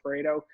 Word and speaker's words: Pareto: that's the pareto principle everyone calls it predo but it's actually pronounced pareto and he came up